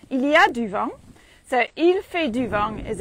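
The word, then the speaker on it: il y a: ways to say it's windy you can say iliad so duvang is it's making wind uh iliad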